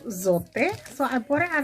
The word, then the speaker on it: Zote: so soap or zote i have now figured out the correct pronunciation to it it's called zote so i bought it